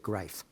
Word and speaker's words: Grief: His name was Erwin Greif, spelled Grief, but he pronounced it Greif.